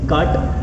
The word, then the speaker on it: CAAT: ऐसा वर्ड आपको मिल जाएगा, CAAT, कुछ लोग इसको कैट बोलते हैं, कुछ लोग काट बोलते हैं, AA मेरे लिए आज ऐसा प्रोनाउंस करता हूं, मैं बोल रहा हूं काट टूल्स, ठीक है।